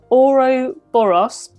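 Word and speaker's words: ouroboros: and it's kind of show you how you pronounce it it's called an oro boros which is a snake eating its own tail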